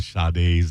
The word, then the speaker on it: Sade: Don't you love it when people inexplicably put an R in Sade's name? Sade. That is so interesting when they do that, because I call her Sade, because that's how you spell it.